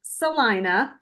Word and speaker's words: Salina: always tell them stop in the city of Salina. It looks like Selena, but it's Okay. pronounced Salina.